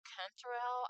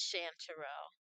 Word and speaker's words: chanterelle: Chanterelle, Canterelle, I'm not sure. But let me look it up real quick. It's Chanterelle. Chanterelle.